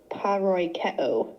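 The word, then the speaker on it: παροικέω: Here's how you pronounce the Greek. Paroikeo.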